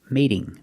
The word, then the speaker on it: mating: But if I say mating, Now the T is between two vowels, so it's a fast D. Mating, mating.